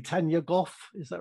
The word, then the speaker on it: Gough: Tanya Gough, is that right? It is Gough, yes.